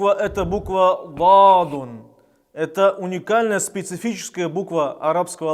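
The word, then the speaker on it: ض: Произносится звук этой буквы, когда мы правую или левую сторону языка прислоняем к коренным зубам. Этот звук является смычным, то есть мы прислоняем язык и потом его отрываем, и образуется этот звук.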